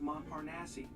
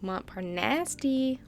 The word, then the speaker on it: Montparnasse: That's pronounced Montparnasse. Montparnasse? No. More like Montparnasse.